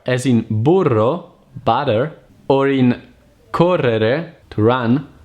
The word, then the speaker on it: burro: and jam the trill the Italian R is pronounced by vibrating the tip of the tongue just behind the upper tip a double R as in burro butter or in Carrera